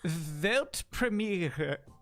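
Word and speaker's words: Weltpremiere: World premiere in German it's actually velt premiere yeah it's good congrats and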